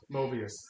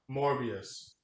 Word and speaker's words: Morbius: Sony movie called mobile yeah Mobius Mobius morbius Mobius okay I said it wrong morbius starring Jared Leto as